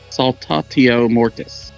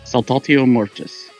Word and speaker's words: Saltatio Mortis: I was looking up to see how to pronounce it. So it's Saltatio Mortis. Saltatio Mortis.